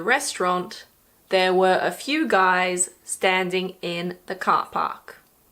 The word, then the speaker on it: Guy: It was originally a French name and in French it's pronounced "Guee", but in English we pronounce it "Guy".